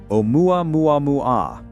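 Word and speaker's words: ʻOumuamua: The naming the name Omuamua. Chosen by Panstar's team, Hawaiian. Scout or messenger. First character is Aina, not an apostrophe. Pronunciation omua mua mua.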